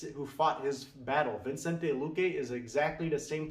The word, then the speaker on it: Vicente: We say Vicente.